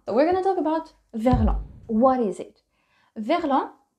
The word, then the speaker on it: verlan: So it becomes vers l'en. The S being silent. Remember, you don't need it. Vers l'en. For some reason, l'en with a E became lan with a A. Verlan.